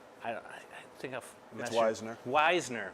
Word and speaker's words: Waisner: think that's wisener weisner hey silent everybody screws it up it's normally wazner is it german yeah okay all right so i heard you you don't say the first vowel that sounds right in german it's like so everybody